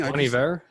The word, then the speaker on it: Bon Iver: Bon Iver?